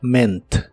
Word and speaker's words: meant: el pasado es meent en este caso la pronunciación es diferente no pronuncias la a solo ment ment en el pasado lo